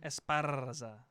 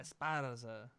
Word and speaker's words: Esparza: No, you have to roll your R. Come on. Esparza. No, that was bad. Oh, that's bad. Esparza. You do it. I can't. Esparza. Esparza.